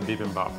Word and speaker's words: bibimbap: how to make, which is, I can never pronounce it right. The tempura part or the bibimbap part?